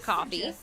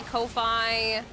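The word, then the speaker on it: Ko-fi: on triggering those sister it's pronounced coffee like you're basically buying someone a cup of coffee but they just spell it like that some people say Kofi um but the I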